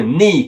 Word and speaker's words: knee: Il y a le mot knee qui veut dire genou en anglais. On ne prononce pas le K qui est devant le N au début du mot.